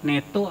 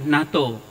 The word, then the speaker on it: NATO: Cara membacanya seperti apa sih? Neto atau NATO? Ya, yang sudah pasti tahu maksudnya, NATO.